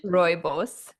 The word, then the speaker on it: Rooibos: Rooibos. Robos, Yes. Robos. Tell us about that because it's a key ingredient in your skincare. So what does it do for your skin? So, rooibos, otherwise known as red bush tea, is actually